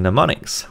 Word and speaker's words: mnemonics: memory is by using mnemonics with a silent M there are many examples